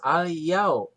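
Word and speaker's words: الْيَوْم: Yau, al-yau. Yau, ada huruf wawu mati, tapi sebelumnya baris patah, bukan doma. Kalau doma tadi apa? Mad tobi'i. Kalau patah, ini disebut apa? Madlin. Maka dibacanya al-yau ya, gitu.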